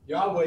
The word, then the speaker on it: Yahweh: Yahweh, and then remember, Yahweh is, that's how we pronounce it, because that's what we understand. The bottom line is that nobody knows how to pronounce it.